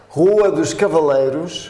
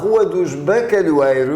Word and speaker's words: Rua dos Bacalhoeiros: Rua dos Cavaleiros. No. Cavaleiros? No. Bacalhoeiros. Ah, Rua dos Bacalhoeiros.